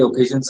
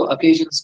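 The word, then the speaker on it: occasions: और सेरेमोनियस मतलब वही सेरेमनीज, जो बड़े बड़े ओकेजन्स होती हैं, ओकेजन्स नहीं बोलते इसको, अकेजन्स बोलते हैं, अकेजन्स, हाँ।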